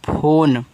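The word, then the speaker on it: phone: तरह आ रहा है लेकिन लास्ट में इ का उच्चारण नहीं करना है।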